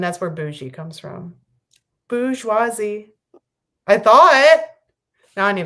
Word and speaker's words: bourgeoisie: Well, the thing is that there's a lot of letters in there that you don't pronounce because it's French. So maybe just because there's an R in there doesn't mean it's pronounced.